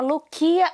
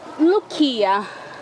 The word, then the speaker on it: Loukia: Eu tô aqui com a Loukia, não? É Lúcia em grego.